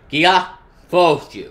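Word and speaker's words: ギアフォース: The Japanese pronunciation is Gia Fosu.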